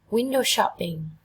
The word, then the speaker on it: window shopping: Window shopping. Hoạt động này cô cực kỳ thích làm. Window shopping, window shopping. Các bạn trọng âm đều dâm tiết đầu tiên hết nhỉ.